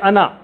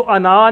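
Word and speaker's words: أنا: और यह नन अच्छा इसको अना नहीं पढ़ेंगे लंबा नहीं करना इसको कभी भी अना नून जबर नाम बस ये अलिफ इसमें साइलेंट है ये अलिफ नहीं पढ़ा जाता सिर्फ जबर पढ़ी जाती है अना और नहन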